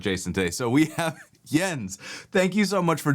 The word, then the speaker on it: Jens: So the typical American version is Jens, which obviously is also wrong. Jans, I don't hear so much. So the correct version is actually Jens. Jens.